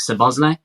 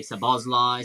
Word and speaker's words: Szoboszlai: sir Bosley um which how many times are we going to pronounce that differently between us I mean I've heard a lot of people say so Bosley so Bosley you said no I thought it was Summer's way well there's going to